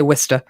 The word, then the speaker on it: Worcester: here called worcester it's it's spelled w-o-r-c-e-s-t-e but we say wista and there was this